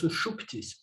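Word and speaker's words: suṣupti: In the dream sleep state, in sushupti, or sushupti, I think it's sushupti, the pronunciation, sushupti.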